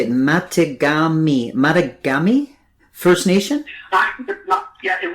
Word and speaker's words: Mattagami: field wow now how do i say it matagami matagami first nation yeah it would be pronounced first nations along the metagamy river and we are now with the relocation